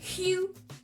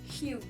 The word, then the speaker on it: Hugh: C'est qu'en France, on ne sait pas que dans le pronom Hugh, le G et le H sont silencieux. Du coup, ça se prononce Hugh Jackman. Hugh. Vraiment H-U, Hugh.